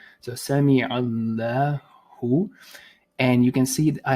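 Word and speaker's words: سمع الله: So lahu, Sami Allahu. Now you may want, so obviously the double A is because there's a stretch, la, right? Otherwise it would be la. So Sami Allahu.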